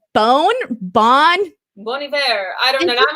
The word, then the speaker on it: Bon Iver: Taylor Lane says it's Bon Iver. Yeah, see, so I was right this time.